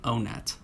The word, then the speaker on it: Onett: the experience for me which is why i now say oh net look i'm not trying